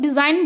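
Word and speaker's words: design: The letter ji is silent. जब हम लोग डिज़ाइन बोलते हैं तो यहाँ पे जो जी है वो साइलेंट होता है।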